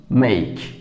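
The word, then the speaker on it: make: এর সামনে যদি আমরা এম দেই, কি দাঁড়ালো? মেইক।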